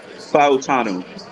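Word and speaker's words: Fautanu: this pick by the Steelers by the way fanu that's how you pronounce it I like this piit with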